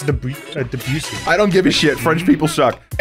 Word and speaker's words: Debussy: I'm pretty sure it's Debussy.